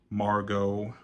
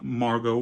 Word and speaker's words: Margot: it but I guess I guess the t is silent I'm sorry but she is now played by Margot Robbie like the main